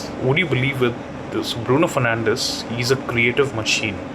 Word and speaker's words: Bruno Fernandes: I think with someone like Bruno Fernandes or Bruno Fernandes, as they call him on FIFA, as per the Portuguese pronunciation, absolutely on another level.